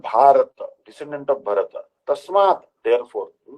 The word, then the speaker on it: Bharata: Our country's true name is Bharat, pronounced Bharata, named after him.